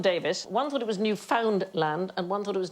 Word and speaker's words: Newfoundland: Newfoundland. Yeah, I'm going to have to shoot you now. Uh, no, it isn't the correct pronunciation. Newfoundland. Hey, enough violence on this show. Newfoundland is the correct pronunciation.